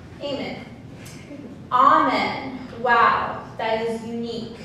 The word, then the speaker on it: Amen: Instead, what I said was, it's pronounced Eamon, actually. It's Urdu.